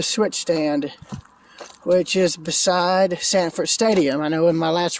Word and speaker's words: Sanford Stadium: this stretch the railroad I kept mispronouncing the name but it is Samford Stadium not segment Coliseum where they play basketball but Sanford said in where they play football so there you go